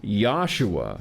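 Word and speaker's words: Yeshua: when Jesus was alive there was no J sound in Western language his name was Joshua which would have been pronounced yahshua but the Greek called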